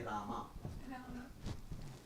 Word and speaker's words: Rama: Hare, and in that he corrected, not Ram, say Rama.